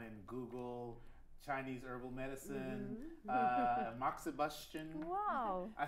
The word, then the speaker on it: moxibustion: to go online and Google Chinese herbal medicine moxibustion Wow I said it right well how do we spell that mo X I bu s tion smart